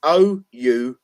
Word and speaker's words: Oulu: Is what I will say is Oulu, or if I could be saying it wrong, Oulu, it's Oulu, has had 3 fires.